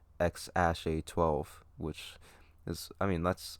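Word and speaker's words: X Æ A-12: to be called and the ae is pronounced ash so it's x ash a12 which is i mean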